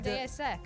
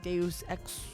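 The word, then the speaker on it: Deus Ex: I always say Deus X DSX like DSS Machina.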